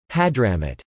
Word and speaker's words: Ḥaḍramūt: Hadhramaut, and given that Hadhramaut is the colloquial pronunciation of the name, and apparently also its ancient pronunciation, the correct reading of the name should be place of Hdrm.